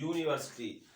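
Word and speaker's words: university: तो जब यू से, इंग्लिश के यू से हिंदी के या का प्रोनाउंसिएशन आए तो हम क्या करेंगे, उसमें आ लगाएंगे, क्या।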